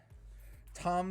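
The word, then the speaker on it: Thom: definitive tommy jarvis and tom yeah he uh tom matthews is like i don't know how to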